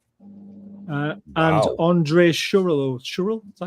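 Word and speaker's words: Schürrle: Uh and Andre Shur Shur. Is that how you pronounce his name? Cheryl. Cheryl.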